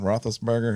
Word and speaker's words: Roethlisberger: Roethlisberger.